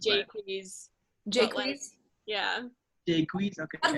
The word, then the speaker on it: Jacques: pronounced Jaques.